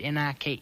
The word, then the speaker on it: Nike: KN running shoes they beautiful they're made by Nike that's Nike it's n i ke it's pronounced Nike how do you pronounce l i